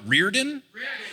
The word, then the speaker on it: Riordan: do know this so the actual Irish traditional pronunciation is that like is that one what Reardon Reardon yeah but he says it Riordan and he's admitted that his family pronounces it wrong like I found quotes